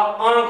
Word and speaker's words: आंख: अब इसका जो उच्चारण है वो किसमें, मुख और नाक दोनों से ध्वनि आनी चाहिए। तो अब इसका उच्चारण क्या होगा, आंख होगा।